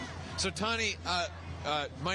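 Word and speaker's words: Tahne: Tonnie. Can you spell that for me? T A H N E. So, Tonnie, uh uh my name is JT.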